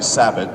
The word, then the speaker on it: Sabat: my name actually uh it's actually sabot but that's okay most people don't understand that anyway and actually everyone has misunderstood my like like pronunciation of my name including my relatives so it's